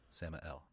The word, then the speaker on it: Sammael: out to words no you're you're skipping a syllable samih sastra fee sama l/l Samael sam al okay anyway once he falls ran